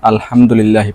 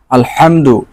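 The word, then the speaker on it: الحمد لله: আমরা ভুল করে ফেলেন যেমন আলহামদুলিল্লাহি পড়ি হ দিয়ে হ দিয়ে যদি আপনি উচ্চারণ করেন আর পড়েন এটা শুদ্ধ হবে না আলহামদু ভালো করে উচ্চারণ করবেন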